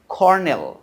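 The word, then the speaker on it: colonel: নাম দিয়েছি এটা সেটা কি উচ্চারণ হল কি কর্নেল উচ্চারণ কি করনেল কিন্তু দেখ এখানে কিন্তু কোন আর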